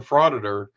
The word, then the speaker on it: frauditor: I don't know if he created it or just made it viral, but he created the term frauditor, and it's so crafty because it rhymes with auditor.